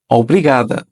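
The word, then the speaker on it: obrigada: হচ্ছে অব্রিগাদো অব্রিগাদো অব্রিগাদ আপনি যদি একজন পুরুষ মানুষ হন তবে আপনি অব্রিগাদ বলবেন আর যদি মহিলা মানুষ হয়ে থাকেন তবে এক্ষেত্রে শেষে ও টা চেঞ্জ হয়ে এ হয়ে যাবে এক্ষেত্রে উচ্চারণ দাঁড়াবে অবৃগাদা অবৃগাদা এবং শেষে কাউকে বিদায়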